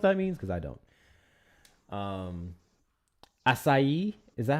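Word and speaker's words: açaí: Achi. Oh, no. Achi? No. That's literally ACI. Oh, I missed an A. Whoopsies. Here we go. Acai. Acai. Yeah. Acai. Mm-hmm. I definitely was pronouncing that wrong.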